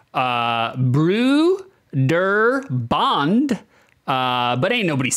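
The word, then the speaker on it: Brøderbund: it and squashed it all together apparently it's pronounced uh Bru der Bond uh but ain't nobody's saying that it's Broder bun all right you're trying to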